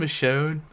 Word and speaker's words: Michonne: So, Axel um Michonne or as Chris Hardwick would say it, Michon. That's how Chris Hardwick first pronounced.